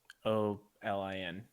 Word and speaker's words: Kholin: Kholin.